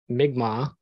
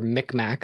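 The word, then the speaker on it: Mi'kmaq: Edge belongs to the wolf Clan he is migma or mcmack as some people mispronounce it I believe uh from the community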